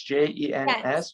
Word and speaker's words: Jens: Pronounce it's a S at the end, so it's Jens.